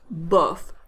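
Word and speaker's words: bof: same sound as then bird so the right pronunciation is buff buff as in off seperately or unfairly are two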